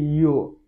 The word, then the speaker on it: yo: Y para ellos es simplemente yo. La pronunciación es algo simple, no es como yo en español, aunque se escribe igual, pero es diferente. Es como si fuera una I y una O.